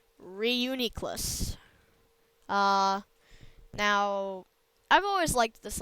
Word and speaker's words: Reuniclus: I was pronouncing it Reuniclus, but it's Reuniclus.